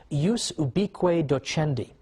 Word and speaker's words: ius ubique docendi: there was something called, in Latin, and I'm using the church pronunciation, ius ubique docendi, which literally means the right of teaching everywhere.